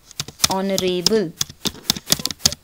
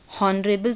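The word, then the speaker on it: honourable: जैसे कि एक और एग्जांपल लेते हैं, ऑनरेबल, ऑनरेबल, हॉनरेबल तो बोलते नहीं, ऑनरेबल बोलते हैं, ठीक है।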